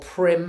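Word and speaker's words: Prym: thank you i use um this stuff called prim elastic thread p-r-y-m that's how you spell it i i think it's knitting thread it's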